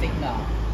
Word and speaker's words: Singha: Singa, yeah, Singha. But the G, we pronounce it like Singa.